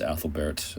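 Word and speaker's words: Æthelberht: um that's spelled Ethlbert I believe in the in the Giri but it's actually pronounced Athlbert um if we go with the Anglo-Saxon but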